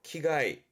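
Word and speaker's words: 危害: 키가이, 키가이. 뭐 위해를 가한다 할 때, 그죠? 위해, 키가이. 장자 됐었네요. 장해입니다.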